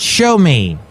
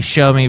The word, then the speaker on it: Xiaomi: and Technology they're called show me it's well actually that's what the BBC says they should be pronounced but it is spelled x i a o m i uh some people say